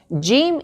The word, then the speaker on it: ج: sound or happy sound, Jeem is one of the letters that produces a sound, not a sound, such as the ja sound in these English words. Judge, justice, just, not the jaw sound in the word job or John.